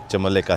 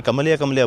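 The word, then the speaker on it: Çamlıca: मैं कमलिया बोल रहा था क्योंकि स्पेलिंग के हिसाब से इसी तरह होता है। फिर एक दो रेस्टोरेंट्स वगैरह वालों से मैंने पूछा, मैंने किस तरह इस साइड पे जाएं, तो उन्होंने बोला ये कमलिया नहीं है, ये चमले का है।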